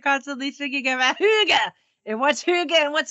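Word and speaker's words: hygge: g but I guess they pronounce it they pronounce it Huga and it's this whole big it's like your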